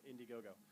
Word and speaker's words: Indiegogo: Yeah, Indiegogo. It's You might pronounce it wrong.